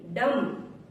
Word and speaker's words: dumb: डम, DUMB, डम। टी से पहले अगर बी आया तो साइलेंट होगा।